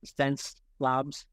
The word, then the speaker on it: Xencelabs: So it's spelled with an X, as you can see here on the t-shirt, but it's like your 5 senses. So it's pronounced Sense Labs.